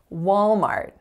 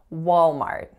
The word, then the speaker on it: Walmart: a Walmart so this one has two syllables and the first syllable is wall so make sure you're not singing ah cuz it's not Wow it's all and then the second syllable has a complex AR vowel for the are sound in Mart Walmart Walmart also keep in mind that the strongest syllable is of course the first our next word is